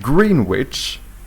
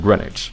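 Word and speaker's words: Greenwich: as well like here like green witch would take more effort to say rather than grenage grenage is easier to say right and I think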